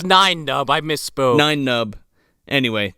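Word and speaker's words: Nien Nunb: No, so Martin Landau, Neon Nub. How do you say his name? Neon Nub. It's Nine Nub.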